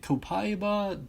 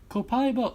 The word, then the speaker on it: Copaiba: I've always pronounced it Copaiba. That's how I believe it's meant to be pronounced.